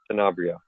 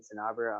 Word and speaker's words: Sanabria: So I'm going to unmute Sanabria. Sorry if I ruined your last name. You said it right, sir. Hi, I'm Sanabria.